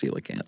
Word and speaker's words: coelacanth: Well, that's what he said at first and she went, "It's pronounced seelacanth."